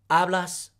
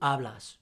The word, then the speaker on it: hablas: a, amos, ais, and an, to become hablo, hablas, habla, hablamos, hablais, and hablan. The H in Spanish is silent.